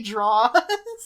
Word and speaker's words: drawers: she burned his lucky draws. Or in that scene too, he says, okay, because she says, I'm not cleaning your drawers. And she's like, and you will pronounce it draws.